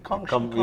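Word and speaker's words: 恭喜: So tomorrow we be gongshi. Yeah, Gongxi, tomorrow we gongxi.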